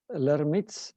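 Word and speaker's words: Lhermitte: it every so often and it's known as laramie's syndrome my pronunciation is correct on that one this syndrome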